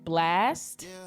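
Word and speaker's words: Blxst: you guys check out blast it's spelled b-l-x-s-t so once again guys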